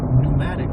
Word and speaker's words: pneumatic: say that birds have pneumatic bones. Yes. There's a silent P in it.